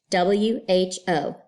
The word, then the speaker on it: who: W-H-O, who.